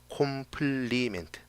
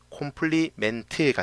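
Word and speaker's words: complement: 콤플리멘트. 원래 발음은 컴플리먼트라고 하는데 어쨌든 이 콤플리멘트가 바로 보수입니다.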